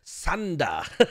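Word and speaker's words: サンダー: pronounce it in Japanese sander is is there yeah there you go you got you got so they don't have a th sound they've got a f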